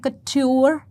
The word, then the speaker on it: couture: इसका प्रोनाउंसिएशन है सिंपल क, और इसका है ट्यूर या ट्योर. तो हम कह सकते हैं कट्योर.